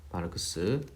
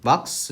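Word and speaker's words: Marx: 이 사람이 독일 철학자이기 때문에 이렇게 이제 우리가 이렇게 쓰는데, 이거를 이제 독일어식으로 발음하면은 막스 이렇게 부릅니다.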